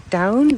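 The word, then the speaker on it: Doune: And this one is the I guess you're saying it like down.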